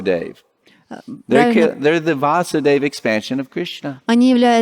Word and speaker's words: Vasudev: sora Young's Ibaka surah those are killed by vaso de see it's Gemini be little bit of acid excuse me I mispronounced Vasu Dave there kid there's the Vasudev expansion of Krishna Aniela it's expensive acid even